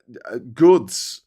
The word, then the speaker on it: gods: you go also uh Gods is um Goods like if you have a Goods lift it it's it's spelled God g o d but it's got the line through it so it looks like God's lift when you're in